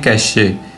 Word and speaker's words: cache: है जिसे कहते हैं कैशे। कुछ लोग इसको कैश पढ़ते हैं, कुछ लोग इसको कैशे पढ़ते हैं। तो हम इसको कैश के तौर पे रीड आउट करेंगे जो मोस्टली प्रोनाउंसिएट किया जाता है।